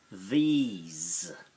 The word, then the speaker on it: these: These, these. It's spelled T-H-E-S-E, but you hear that's got th-e-z. The S, the second sound of S, is z.